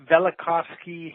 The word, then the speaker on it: Velikovsky: book about the um is that pronounced villacos velikovski heresies okay so that V is kind of uh silent that's right it sort